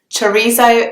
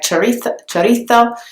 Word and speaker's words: chorizo: Chorizo is actually the English pronunciation of the word. I know that in Spanish you would say the Z sound very differently. It would sound something like chorizo.